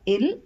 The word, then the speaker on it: ils: e l e s s is silent so it's pronounced as ill or L we use ILS when